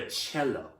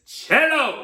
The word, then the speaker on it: cello: get myself very clear it's called the cello that's hello it's cello it's spelled as c-e-l-l-o and i really really